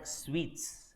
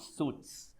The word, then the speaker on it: suite: It's called suites, not suits. Suit is your coat suit. Suite is a type of room. Suite as in how you say this laddu sweet. Just like that, the pronunciation is one and the same.